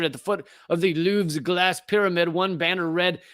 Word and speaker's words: Louvre: I think you just say Loov, but you act like you're slightly vomiting while you do it. Louvre.